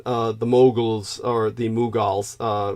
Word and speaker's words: Mughals: the Moguls or the mughals uh what's the correct pronunciation for them again maybe um the mughals moogles the the mughals these were Muslims yeah